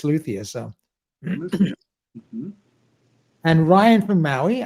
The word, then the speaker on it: luthier: pronouncing it wrong so I checked it I have been it's it's luia so and Ryan from